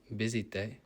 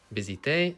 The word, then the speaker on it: visité: Visité, careful with the pronunciation, not visite. Visité, country, y, and then here we've got those same verbs, but in the past tense, in the preterite tense.